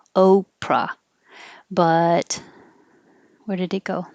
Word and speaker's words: Oprah: july 17 is oprah the vowel is o oprah but where did it